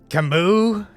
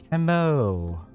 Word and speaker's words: Camo: Camus? No, Camo. He's right. You be saying it wrong, Ishmael. Obviously, it's Camois. It's Camo.